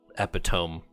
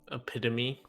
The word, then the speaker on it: epitome: Any closing thoughts on Kaladin in his epitome chapters here? Epitome. Yes. I said it right, didn't I? Well, epitome's a word. I always say epitome, but I've been corrected many times to epitome.